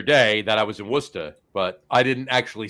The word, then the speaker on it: Worcester: I'm saying Worcester wrong. It's Worcester. Worcester. Not Worcester. It's not Worcester. It's not Worcester. It's Worcester. I'm sorry. I mispronounced Worcester. My one vowel.